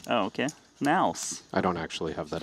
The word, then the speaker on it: NAOS: I think it's pronounced Naus. Oh, okay. Naus.